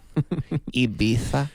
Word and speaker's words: Ibiza: Ibiza. Nice pronunciation.